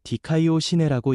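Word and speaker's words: δικαιοσύνη: 의에 이른다는 의미 에라는 말은 헬라어로 디카이오 시내라고 읽습니다. 의는 하나님 앞에서 올바르게 인정되는 신분 하나님께 죄없는 자로 받아들여지는 상태라는 뜻입니다.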